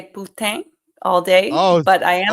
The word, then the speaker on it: poutine: The poutine or Chile cheese fries? poutine all day, but I am going to say How do you say that?